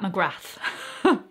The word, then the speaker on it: McGrath: pronounce her name well she pronounces her name pat mcgrath the th you hear so uh i'm now